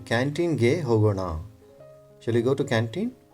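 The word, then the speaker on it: ಹೋಗೋಣ: Here you need to pronounce it properly. Hogo na. It is not hogo na. Na means you will probably touch your tongue to the teeth inside. Hogo na. But this is hogo na. Na means you may have to touch your tongue to the top portion of your mouth.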